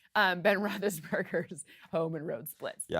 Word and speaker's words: Roethlisberger: been rathus Ben Roethlisberger's or rathus burgers if you want to mispronounce it Ben Roethlisberger's home and road splits